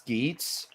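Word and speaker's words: Geats: Okay, so according to press release so far, Kamen Rider Skits, and yes, it is pronounced Skits, is based on survival shooter games, virtual survivor shooter games.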